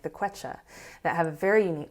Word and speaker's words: Quechua: I hope everyone go look up Quechua women. They have all How do you these spell it? with a Q. Okay. Quechua, yeah, with a Q.